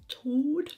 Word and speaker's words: Chaud: Chaud.